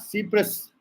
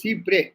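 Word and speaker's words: cy-près: It is not Cyprus, it is Cypres. S is silent.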